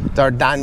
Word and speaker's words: Dardania: Don't have Kosovo is like Slavic pronunciation, but the name in Albanian or the name of land is called Dardania. Dardania.